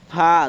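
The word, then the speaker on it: ف: সঠিক উচ্চারণটা হলো সামনের দুই দাঁত এবং নিচের ঠোঁটের পেট মিলিয়ে তারপর হয় ফা ফা।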